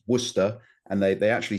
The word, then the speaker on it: Worcester: I was educated in Worcester and uh and for those Americans that might choose to pronounce that Warcester or uh or Warester or whatever, no, it's Worcester and they they actually say that in in the Boston area you have a Worcester uh there.